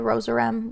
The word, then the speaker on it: Rozerem: And we can remember also that's the Rosarem, rose rhymes with doze, and REM reminds you of REM sleep.